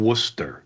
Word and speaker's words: Worcester: You can't You can't pronounce the the city name Worcester.